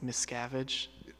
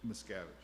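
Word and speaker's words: Miscavige: It's like Mscavage. Mscavage.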